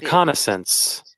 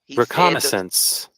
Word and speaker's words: reconnaissance: Sans S a n c okay correct the pronunciation but hold up she say it like this reconnaissance reconnaissance that is reconnaissance under your own it's under military observation of